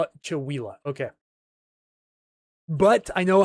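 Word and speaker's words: Chewelah: Call it Chawila. Okay. But I know how to pronounce names like Snohomish, Skycomish, Squim, Puyallup, of course, is the famous one.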